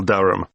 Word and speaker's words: Durham: How do you spell Durham? D-U-R-H-A-M. Of course, I should know that. But it's just one of those names that sounds quite different from the way you spell it.